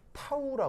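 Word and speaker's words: τ: 니 아제가 아니고요 예 이거 읽을 때 뭐라고 읽냐는 타우라 읽어 타우 그리스 알파벳이 물리 시간에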